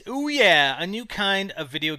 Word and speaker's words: OUYA: this time around about a Kickstarter project called oh yeah oh yeah it's spelled o u ya a but pronounced oh yeah a new kind of video game console I'm